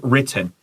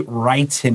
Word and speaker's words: written: And pay attention to the word written. Students love to say written here, and that's wrong. How do you know? Because we got two T's. When we have a double letter, it's telling you that the 母音, the 前面的那个母音 is short.